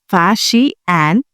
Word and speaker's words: Faxian: Chinese traveler Fasian pronounced as Fasi and visited India in the early 5th century CE.